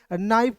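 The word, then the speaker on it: knife: यहां दोस्तों एन आई एफ ई लिखा हुआ है। तो इसे हम लोग क्या पढ़ेंगे? नाइफ पढ़ते हैं एक ही झटके में।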